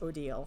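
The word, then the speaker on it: Odile: Odal, by the way, it's Odal, how how to say her name.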